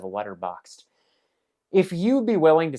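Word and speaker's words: Letterboxd: And that's after I give my friends a hard time for saying letterbox D instead of letterboxed.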